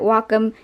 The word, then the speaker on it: Wacom: I have the right to pronounce it Wacom, and you have the right to pronounce it the wrong way.